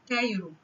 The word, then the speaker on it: Cairo: هنتعرف في الفيديو ده على أربع كلمات بيشتركوا مع بعض إن هما بيبدأوا بحرف السي A وبيتنطقوا في أول الكلمة K، زي كلمة كايرو.